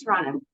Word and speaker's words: Toronto: do have to start pronouncing it as Toronto there's no T at the end oh right Toronto sorry so we're clear